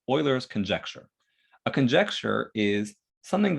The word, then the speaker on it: Euler: So this is something called Euler's conjecture.